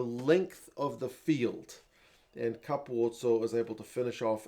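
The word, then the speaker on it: Capuozzo: to the English commentary Andrew Mertens knows how to say his name but the regular commentator kept calling him Caputo which is something that's bugged me for a long time about the way people pronounce his name but hey what are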